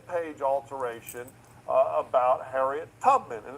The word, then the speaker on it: Tubman: And they're all referring to this web page alteration uh about Harriet Tubman. And it's Tubman, not Tutman as you pronounce.